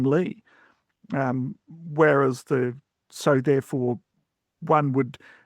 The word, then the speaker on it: Lee: names of common origin, but often the Lee pronunciation, which is used in Korean or in Cantonese, right, is something that's well established. And it's, of course, always convenient because it's exactly the same as the English surname Lee.